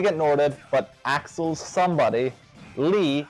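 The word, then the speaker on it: Lea: So he's about to get Norded, but Axel's somebody, Lee, L-E-A, pronounced L-E-E, saves...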